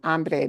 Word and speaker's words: hombre: yeah, cowboys, all that stuff, you hear this pronounced as hombre, but that is wrong. Hombre means something very different.